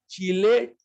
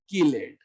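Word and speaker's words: chelate: Chemistry, chemistry, चैल्कोजन, कैल्कोजन, चिलेट, किलेट। चिलेट ring जो पढ़ते हो, चिलेट नहीं होता, किलेट होता।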